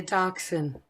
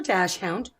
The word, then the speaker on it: dachshund: It's going to be a dachshund or dachshund, depending on how you pronounce it.